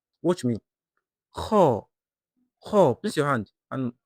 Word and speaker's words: خ: Let the sound come out naturally while keeping your throat relaxed. Watch me. Kha.